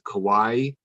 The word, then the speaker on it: kawaii: keyword for that is kawaii it's k-a-w-a-i-i it's kind of spelled like hawaii and it that means cute